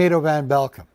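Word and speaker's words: Edo van Belkum: we go hi i'm edo van belcum if you ever wondered how to pronounce that name properly here's a couple of tips edo like potato and van belkam like you're welcome but enough about my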